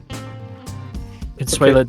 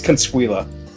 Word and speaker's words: Consuela: Canuela, don't don't entertain these people. They're going to be mean to you. It's Consuela. Sure. Yeah. Get the pronunciation right.